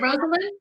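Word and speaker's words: Rosalynn: called her rosalind for a while is it rosalind yes but nobody knows that and she hates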